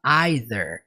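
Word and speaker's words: either: ó e dar que dentro da pronúncia dele ele fala aider percebe a diferença para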